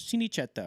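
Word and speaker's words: Cinecittà: I was like Mom how do you pronounce it she goes chineta or chineta so that's it's it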